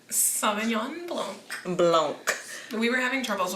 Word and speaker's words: Blanc: I'm like, it's blanco without the O.